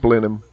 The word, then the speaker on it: Blenheim: with the Red Dot is English but it's pronounced Blenheim and uh there's lots of English words Blenheim